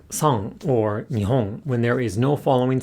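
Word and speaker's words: 日本: In a word like sang or nihon, when there is no following sound, the hatsuon again is pronounced as a voiced uvular nasal.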